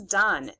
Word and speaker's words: done: This is done. It looks like it would be a CVC's E, silent E word. There's an E at the end. So you think we would say the vowel's name.